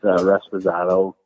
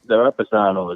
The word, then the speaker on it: Reposado: How do you pronounce this? I am not Spanish speaking per se, but I believe it's Reposado.